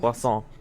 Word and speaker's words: Poisson: Poisson. Like croissant.